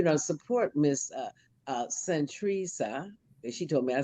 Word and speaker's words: Santresa: support miss uh uh centrisa and she told me i said it right when uh when the show first started i said am i pronouncing your name right she said you said it right so saint theresa uh